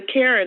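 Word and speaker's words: CAREN: supervisor walton created the karen act the acronym stands for caution against racial racially exploitative non-emergencies let me say that more correctly it's spelled c-a-r-e-n and it is a pun on the word karen and it stands for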